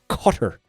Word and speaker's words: Qatar: Uh we're not supposed to pronounce it Qatar anymore. We're supposed to pronounce it cutter um for like a cigar cutter.